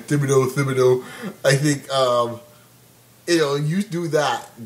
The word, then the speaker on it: Thibodeau: These guys made the decision to get rid of Thibodeau or Tibbs or however some people pronounce his name. Thibodeau.